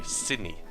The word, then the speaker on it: Sydney: n e y apparently when I say the word Sydney normally without pronouncing the D I say Sydney Sydney like without the